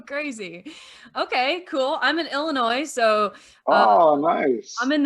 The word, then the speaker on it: Illinois: like oh my god do you call it the noise he was like no that's not how you say it he's like oh i'm sorry like i offended you there's no noise in illinois yeah we're kind of